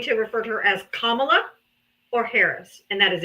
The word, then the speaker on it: Kamala: Kamala, Her name is Kamala. Kamala. No, Comma? that's what you call her. No. She was the vice president of this country. Put some respect on her name. Say it right, or just say Harris.